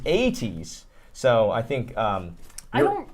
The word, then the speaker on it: ATEEZ: Anyway, so no, yeah, I think we're not pronouncing it right. Esther Park says ATs.